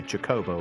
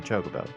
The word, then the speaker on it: Chocobo: have a friend who always used to pronounce um Chocobo as Chocobo he would always say jacobo rather than Chocobo and I remember the